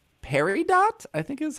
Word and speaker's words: Peridot: It's an augmented reality pet game called Peridot, I think is how you say it. Peridot, Peridot. I think they call the creature Dots. Okay, that's fine. Is it Peridot? Yes. That's Peridot. That's a French word.